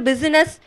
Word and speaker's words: business: இந்த இடத்துல நல்லா பாருங்க, இதோடைய உச்சரிப்பு வந்து பிசினஸ் அப்படின்னு இருக்கணும், பிஸ்னஸ்ன்னு சொல்லக்கூடாது. ஏன்னா இது வந்து வவல்ஸ்ன்னு சொல்லுவாங்க. அந்த வவல்ஸ்க்கு அடுத்து நம்ம சொல்லும் பொழுது எஸ் எல்லாமே வந்து ஜெட்டாக நம்ம வந்து உச்சரிக்கணும், பிசினஸ்ன்னு சொல்லணும். He killed his new business.